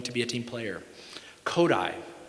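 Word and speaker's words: Kodály: Kodai, spelled Kodali. Zoltan Kodai. It's pronounced Kodai, accent there.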